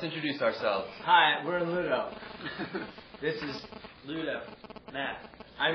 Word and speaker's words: Ludo: Hi, we're in Ludo. This is Ludo. Matt. I'm Tim, and I'm in Ludo. I'm the other Tim. And together we're in Ludo. Ludo. It's pronounced Ludo.